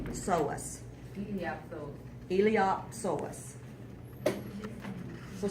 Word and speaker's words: iliopsoas: do you fountain Ilyasova the P is silent and i think the